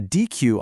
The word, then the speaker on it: deque: It's pronounced deque, and it's short for double-ended queue.